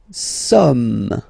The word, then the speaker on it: sommes: Nous sommes. Okay, nous sommes. Okay, so you don't pronounce the final S here, it doesn't exist.